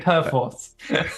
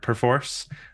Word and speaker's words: Perforce: pronunciation of the word perforce like if you look it up in the dictionary that's the where the emphasis goes is on the force part uh however I I